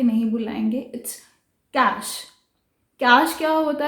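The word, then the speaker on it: cache: यस, ये जो कैश है इसको हम कैचे कह के नहीं बुलाएंगे, इट्स कैश।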